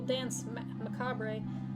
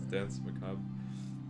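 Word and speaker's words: danse macabre: Ah, of course, a little dance macabre to... Jesus. What? Did I pronounce it wrong? Yes. How do you say it? It's like Okay. I believe it's dance macabre.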